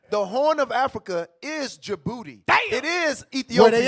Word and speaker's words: Djibouti: Djibouti. Oh. Hey, let's read that. The D is silent like Django.